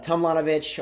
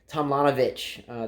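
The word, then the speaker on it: Tomljanović: I did watch the French girl Mladenovic play Tomljanovic, or I forget how to pronounce that. I know a lot of people say that J is silent. Tomljanovic, the Australian girl.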